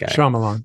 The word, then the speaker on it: Shyamalan: Am I pronouncing that right? Shyamalan? I think Shyamalan. Yeah.